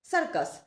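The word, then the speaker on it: circus: যেমন ধরুন সারকাস। সারকাসের ক্ষেত্রে ফারস্ট সি এর পরে আই আছে বলে সি এর উচ্চারণটা হবে এস বা স এর মত।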